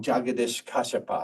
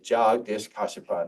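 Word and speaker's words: Jagdish Kashyap: H H um uh I pron I always pronounce it wrong jagadesh kasapa I used to say jages kasapa now I I'm told I've been pronouncing it wrong all this time and jish kipa was an was Indian and um from from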